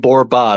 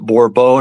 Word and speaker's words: Borbeau: sports bar theme, and I used to pronounce my last name Borbot. I pronounce it Borbeau now.